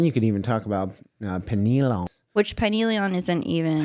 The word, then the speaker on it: pineal: So then you could even talk about pineal. Which pineal isn't even... Pineal, that's how you say it.